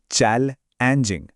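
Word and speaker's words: challenging: अक्सर डिफिकल्टी कहा जाता है, लेकिन चैलेंजिंग कहने से, जिसका उच्चारण है चैल-एंजिंग, हमारा कॉन्फिडेंस तो बढ़ेगा ही, साथ ही हमारी भाषा बहुत प्रोफेशनल भी लगेगी।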